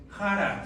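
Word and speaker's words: χαρά: La palabra en griego es jara, se escribe chara.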